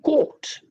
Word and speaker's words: court: And this caught is the same as the court, go to court, right? So if you go to court, going to court, and if you're talking about getting caught by the police, the pronunciation will be the same. Whether you say court or you say CAUGHT, the pronunciation of both these words is identical, right?